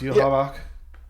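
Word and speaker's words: Yhwach: It's spelled Yawak, but it's pronounced Yuhavak.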